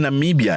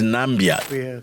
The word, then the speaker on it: Namibia: Trump was ridiculed for infamously mispronouncing Namibia as nambia Ghana Guinea nambia Trump